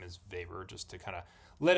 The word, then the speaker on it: Weber: current way it's said which is the correct German way more or less um the way it looks in English pronunciation so that name is vapor just to kind of